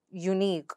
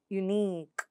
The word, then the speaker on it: unique: Next, ik, as in unique or physique. So how do you pronounce that? Unique.